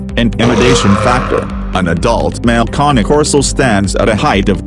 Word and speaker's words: Cane Corso: In this following video, if you are struggling to choose between a CANECORSO, phonetically pronounced as CANECORSO, and a Tosa Inu,